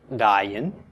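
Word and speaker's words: עַיִן: Okay, this is pronounced dayin. And it means an eye. Okay, it's the name of the letter, and it means an eye. Pronounced exactly the same as the name of the letter.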